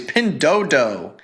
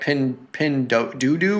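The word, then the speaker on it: Pinduoduo: We were once reprimanded because we used to call it like pin pendo doodoo or something, but someone told someone told us that it is pronounced pin dodo like door without the R.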